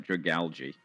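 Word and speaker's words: Dragalge: How do you say it? Algae. It's al it's algae. All right. Drag algae.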